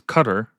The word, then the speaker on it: Qatar: I guess you pronounce that cuz it's cutter cutter.